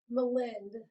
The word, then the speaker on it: Melind: So it's Melind, like Melinda without the A.